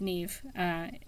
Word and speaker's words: Niamh: I know that the first part is Neve, which would be Irish. Ordinary Saints, Niamh, Neve.